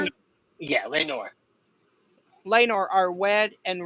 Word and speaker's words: Laenor: Is it Later, Laenor? yeah, Laenor.